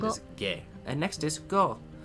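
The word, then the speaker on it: ご: And next is go. You pronounce this as go, right? Ko as normal. Then add your Dakuten marks in the position shown in the image above.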